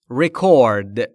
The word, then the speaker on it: record: Record.